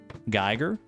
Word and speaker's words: Geiger: Or is it Giger counter? I think it's Geiger counter cuz there's like an artist named like HR Giger, but their name isn't spelled like that.